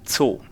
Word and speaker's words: Zoo: In German it's called Zoo. So we speak it. We write it also with 2 O's, but it's called Zoo. And you speak the 2 O's only as 1 O.